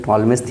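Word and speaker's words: Ptolemy: टॉलमेजस theorem क्या होता है? देखिए दिखा रहे हैं। टॉलमेज पी साइलेंट होता है।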